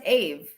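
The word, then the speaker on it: Aave: that you say it i've always heard it pronounced ave it's definitely ave maria a lot of derivatives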